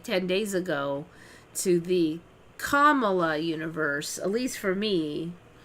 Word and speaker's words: Kamala: Her name is pronounced Kamala with the emphasis on the first syllable.